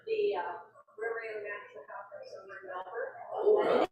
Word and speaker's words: Melbourne: I'm officially now registered for the Rotary International Conference in Melbourne. And it is pronounced Melbourne, it's not Melbourne, Australia, it's corrected by Australia.